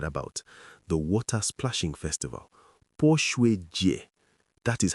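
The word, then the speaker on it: 泼水节: have never heard about, the Water Splashing Festival, Pō Shuǐ Jié.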